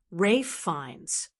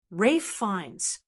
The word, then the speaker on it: Ralph Fiennes: Rafe fines. Kind of surprising, right? Rafe fines is best known for playing iconic roles like Lord Voldemort in the Harry Potter series. And despite being a household name, many people still stumble over how to say it. Now you know the correct way.